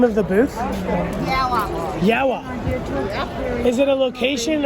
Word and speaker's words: Yowah: How would you pronounce the name of the booth? Yowah.